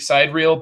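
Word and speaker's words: Sidereal: or anything like that the game he's talking about is spelled s i de r e al it looks like SideReel like SideReel isn't like a movie term I think SideReel but it has a it has an A instead of being all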